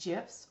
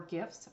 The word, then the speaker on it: GIF: dan will tell us maybe pronounced gifs or gifs both are correct and dan bostrom we